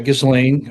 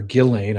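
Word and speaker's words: Ghislaine: Gizlane or Gillain, I guess. S is silent.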